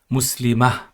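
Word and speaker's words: مسلمة: Of course, when you read without the vowel endings at the end, you pronounce this as Muslimah.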